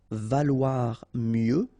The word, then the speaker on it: valoir: Valoir mieux, final X not pronounced. Valoir mieux. Se vendre en, and then here example, bouteille.